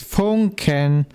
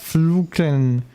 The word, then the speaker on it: Funken: It's funken. Not fluken. It's funken.